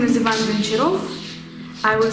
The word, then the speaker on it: Ivan Goncharov: I will say it with my Russian accent because it is Russian author, therefore I may do that. And I'm having such an advantage above all other English-speaking people now, so I can pronounce it.